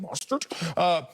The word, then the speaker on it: Mostert: How you say it? Mostert? Mustard on the beat, bro.